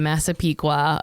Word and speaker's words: Massapequa: In one of the most white bread, boring neighborhoods of Massapequa, which she's like phonetically spelled out, but I think I'm Massapequa.